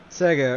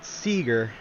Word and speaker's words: Sega: Sega, or as retards call it, Seagar.